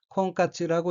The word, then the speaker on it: 婚活: 셋째 줄 왼편의 어휘는 한자가 한국어로 혼활이고 혼이 날 혼, 살활자로 되어 있고 일본어로는 콩까츠라고 읽으며 콩까츠는 결혼활동이란 의미입니다.